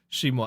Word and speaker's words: Simon: I always found it weird that they called Simon Simon. Shimon. Either it's just a Japanese way of pronouncing it.